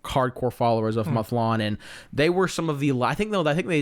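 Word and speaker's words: Mathlann: god is it pronounced mlon m a t h l a n but it's not math it's not math land it's like mlon right mlon mlon yeah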